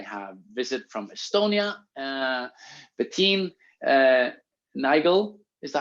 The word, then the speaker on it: Nigul: Bettin, Nigul, is that how you say it? Nigul.